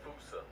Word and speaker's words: fossa: to lemurs everywhere, the fossa. Although with its spelling, I'm pretty sure it's actually fossa, but the day I pronounce it like that is the day I lay my childhood to rest.